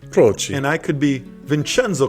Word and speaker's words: Croci: Vince Croci. Yes. Is that how you pronounce it? Yes, we've Americanized it, Michael. It should be Croci. Croci.